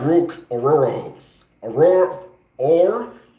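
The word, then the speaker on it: Orhorhoro: name Clemson defensive tackle Rook or ororo is his name I pronounced it right that time uh solid defensive tackle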